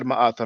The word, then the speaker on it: Ma'at: slide about Ma'at, and we do have the vowel sound A and also the glottal A, because that's why we pronounce it Ma'at.